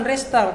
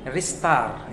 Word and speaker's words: restart: Nah, itu bukan restart, kalau pengucapan yang benar itu restart.